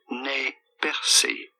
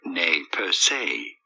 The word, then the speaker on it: Nez Perce: is normally pronounced as ne percy or nay per se in english however this is usually said as purse nespers purse okay yeah that sounds